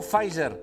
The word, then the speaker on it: Pfizer: Sí, però la P no es pronuncia, tothom diu "Fizer".